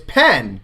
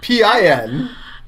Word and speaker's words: pen: because it's you know it's not den right d-e-n it's pen p-e-n and but you pronounce it in like p-i-n i think everybody in america does that i right i think if you live in america and you say pin instead of pen please back me up